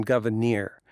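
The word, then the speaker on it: Gouverneur: Well, it's hard to find a pronunciation for the guy. I decided on Governor, but it is a little tough because it's two accented syllables in a row. So it's Governor Morris. So Governor Morris is fine too.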